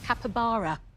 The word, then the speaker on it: capybara: Let's see how many of our 100 said capybara. It is right. And down it goes to 27. Very well done indeed, taking your total up to 46. Oh, brilliant. So, it's actually pronounced capybara.